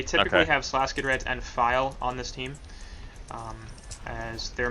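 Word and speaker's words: FiIe: Technically his name is F-I-I-E, but the second I is capitalized, and he pronounces it File, so...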